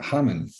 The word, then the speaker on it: Ramon: his name was Ramon which is pronounced Haman in Portuguese and he moved to